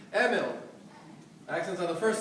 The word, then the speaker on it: Emil: make sure you pronounce the first name correctly Emil accents are the first syllable Emil the son of uh David and Diana baby